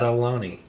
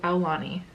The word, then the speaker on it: Aulani: full day at Aloni we learned how to say it properly so we've been mispronouncing the name of the resort forever yeah and it is called Aulani el Lani yeah so we're saying it right a lot of fun